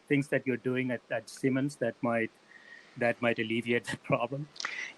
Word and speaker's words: Simons: And are there things that you're doing at Simons that might alleviate the problem?